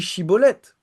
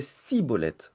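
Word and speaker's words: Shibboleth: Il lui disait "Alors, et bien dit "Shibolette" et il disait "Siolette plutôt que chibolet parce qu'il ne pouvait pas le prononcer de cette façon."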